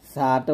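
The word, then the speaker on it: ث: তা তারপর হচ্ছে সা জিহ্বার আগা সামনের উপরে দুই দাতের আগার সঙ্গে লাগিয়ে ছাটা উচ্চারণ করতে হবে পাতলা করে সাং ছা উচ্চারণ করার সময় কি করতে হবে একটু বাতাস বের করতে হবে ছা এরকম এখানে ছা উচ্চারণ করার সময় একটা সতর্ক থাকবেন যেন আপনার জিহ্বাটা কোনভাবেই নিচের দাঁতে যেন টাচ না করে তাহলে সা হবে একটা ভুল হবে যা হারাম এই ভুলগুলা করা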